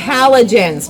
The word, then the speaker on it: halogens: Uh, you actually pronounce it H hallogens, but yes. Halogens. Halogens. Halogens. Yes. Exactly like a H hallogen light bulb.